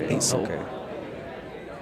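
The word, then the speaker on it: Assel: A S S E L. Ace. Like the ace of spades. Asil.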